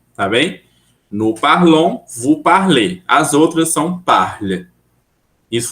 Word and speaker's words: parlez: parlez. Aí você fala o E.